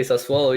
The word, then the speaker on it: Sassuolo: Another club that we talked about earlier this year was Sassuolo. I think did I pronounce that right? Yeah, I was about to say Sassuolo.